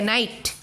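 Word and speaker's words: knight: नाइट, इधर तक pronunciation होता है, K का प्रोनाउंसिएशन नहीं होता है।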